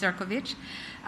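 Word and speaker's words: Šefčovič: On the margins, I met with the EU Commissioner for Trade, Marko Srečković, Serkovich, yes, spelled Sefcovic, pronounced Serkovich, which were very helpful.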